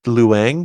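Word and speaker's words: Ken Leung: That is Ken Young. Young as Detective Singh. Is it Ken Luang? Is that how you say it? Yeah, sorry, Luang. Probably Luang.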